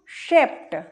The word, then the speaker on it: shaped: जैसे SHAPED, इसको क्या पढ़ेंगे हम? शेप्ट, शेप्ट। यहां पे डी का उच्चारण क्या हो रहा है? यहां पर डी का उच्चारण हो रहा है टा।